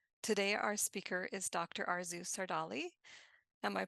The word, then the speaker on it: Arzu Sardarli: Arzu Sardarli. Am I pronouncing your name right?